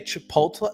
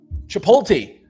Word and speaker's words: Chipotle: It is um just glad that my uh I don't say Chipotle. Uh what the some old people say Chipotle Chipotle um Chipoti. My mom and dad used to say Chipoti.